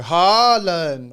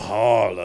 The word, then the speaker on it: Haaland: But staying on sports, though, I heard Haaland's doing bits. Or however the hell you pronounce the Vikings' name.